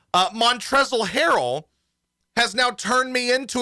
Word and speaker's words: Montrezl Harrell: not the mavericks but montrezl harrell um silent l uh montrezl harrell has now turned me